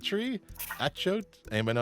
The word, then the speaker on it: achiote: the seeds of the achiote tree. Achiote? Anybody know how to say that? Definitely not. Achiote? Achiote? I don't know. Rhymes with A coyote.